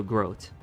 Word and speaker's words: Groot: Oh, Groot is pronounced as rhyming with oat, so Groat. Okay, gotcha.